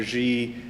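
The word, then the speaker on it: zhe: So throughout the book, the protagonist, I refer to the protagonist with the non-gendered pronouns of G and here, Z-H-E and H-I-R. That's how I pronounce them.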